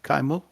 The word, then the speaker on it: Kimal: We pronounce it kaimo, but yes.